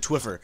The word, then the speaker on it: Twphper: I created Twphper, and yes, it's pronounced Twphper. The PHP makes kind of a funny sound.